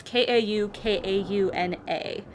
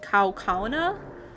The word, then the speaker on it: Kaukauna: It's Kaukauna. And we had a teacher that pronounced it Kaukauna, and we thought that was funny.